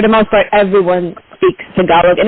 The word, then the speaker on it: Tagalog: but thank you for giving us the correct pronunciation which is Tagalog and I just want to stay with the